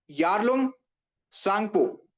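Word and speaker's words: Yarlung Tsangpo: कहा जाता है यारलंग यारलंग सांगपु ठीक है बच्चे यहां पे टी साइलेंट है यारलंग सांगपु यारलोंग सांगू।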